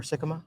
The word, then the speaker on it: Sikkema: I pronounced his name correctly. You did. You nailed it. You nailed it. Kind of worried about that for a second. You got it. And The double Ks, sometimes it's tough.